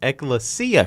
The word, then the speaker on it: Ecclesia: They played, now I kept saying it wrong on the broadcast, but it's Ecclesia College.